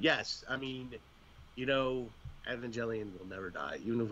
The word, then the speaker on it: Evangelion: to correct you there Steve I believe it's pronounced Evangelion Evangelion sorry yes Evangelion my bad my bad uh